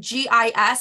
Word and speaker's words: GIS: know uck's designer and GIS I was pronouncing yes okay like I was like oh yeah I'm working guess not girl it's g-i-s like who are you